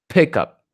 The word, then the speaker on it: pickup: always want to put the stress on the first word pickup C call up right call out always the first all right so here's